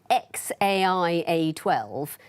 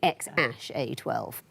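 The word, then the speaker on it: X Æ A-12: She says it's XAIA12, and he says no, the second character is pronounced Ash, so it would be X-A12.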